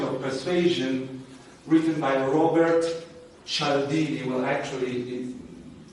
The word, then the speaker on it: Cialdini: persuasion written by Robert Cialdini will actually I pronounce the Italian fashion directly it could be